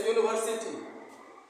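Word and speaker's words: university: यूनिवर्सिटी, यहाँ देखिए you vowel letter आया है, लेकिन इसका प्रोनाउंसिएशन वोवेल की साउंड से नहीं हो रहा है, इसका प्रोनाउंसिएशन हो रहा है कंसोनेंट साउंड से।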